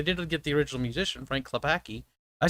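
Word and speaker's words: Frank Klepacki: wise and they didn't get the original musician frank clopaki i said it right this time don't yell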